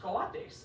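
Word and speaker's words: cuate: we speak Spanish and in Mexico it's it's pronounced Kates and it means homie and I was like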